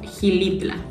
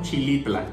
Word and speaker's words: Xilitla: Bueno, la siguiente palabra, aquí nosotros le decimos Gilitla. ¿Tú cómo le dirías? Yo ya sabía que se pronuncia Gilitla, pero yo creo que los venezolanos dirían como Chilitla.